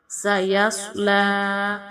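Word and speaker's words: سَيَصْلَىٰ: پر قلقلہ کریں گے۔ سیصلی، صاد کو ہم موٹا پڑھیں گے۔ سیصلی نارا ذات لہب،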